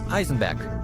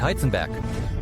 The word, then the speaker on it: Heisenberg: der Serie breaking Bart richtig ausgesprochen wird er tatsächlich Eisenberg und nicht heizenberg na ja klar die